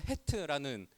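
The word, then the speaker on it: ח: 오늘 본문은 히브리어로 헤트라는 알파벳이고 우리 발음으로 치면 히읗에 해당하는 단어인데, 글자인데 그 히읗으로 시작하는 8행시입니다.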